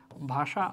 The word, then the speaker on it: ভাষা: যেমন ধরো ভাষা, ভাষা আমরা যদি বলি, এটা হচ্ছে মূল বানান, কিন্তু আমরা উচ্চারণ করি হচ্ছে কি এভাবে তালব্য স হিসেবে।